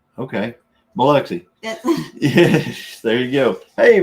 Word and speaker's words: Biloxi: Yeah, so it's pronounced Biloxi. Okay, Biloxi.